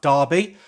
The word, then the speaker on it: Derby: of a neighboring city like darby uh that's spelt with an e just in case you're